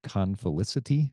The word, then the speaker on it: confelicity: Confelicity.